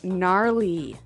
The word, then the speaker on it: gnarly: the ski instructor say gnarly gnarly run yeah gnarly so an interesting word it's spelled g n a r l e y okay so but you don't say gnarly no you say gnarly yep and a related